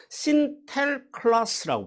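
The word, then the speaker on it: Sinterklaas: 다니면서 니콜라스를 뭐라고 불렀냐 그 네덜란드 발음으로 신텔 클라스라고 불러 신텔 클라스 예 그래서이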